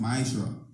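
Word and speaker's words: מעשר: verses 8 to 10, means tenth in the Hebrew and is pronounced ma'ashra.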